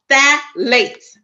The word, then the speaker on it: phthalates: category called obesages right it's called fat Lakes all right that's how you say it but it's spelled with a p all right I'm gonna